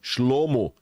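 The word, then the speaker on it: שלמה: e o terceiro rei de Israel Foi Salomão shlomo O Pacificador aquele que vem da Paz Olha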